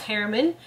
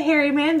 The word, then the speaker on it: Harriman: it's and then my last name it's pronounced harriman and you can say hairy man because that's how it looks like it's spelled totally five been growing up